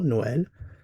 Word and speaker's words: noel: So noel comes from old French noel pronounced as one syllable noel a variant of n ultimately from the Latin word natalis diaz which literally is birthday natalis diaz.